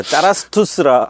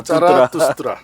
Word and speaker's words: 짜라투스트라: 아, 발음도 짜라스투스라. 아, 짜라투스트라.